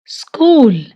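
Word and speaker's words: school: स्कूल, एच इसमें silent है।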